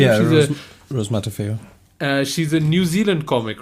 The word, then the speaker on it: Matafeo: And the stars Rose Matafeo, I think, how you pronounce her name? Yeah, Rose Matafeo.